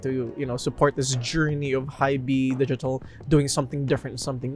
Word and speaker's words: HiBy: And yes, it's pronounced HiBy, trust me. My video about HiBy is coming up, and it's HiBy, trust me.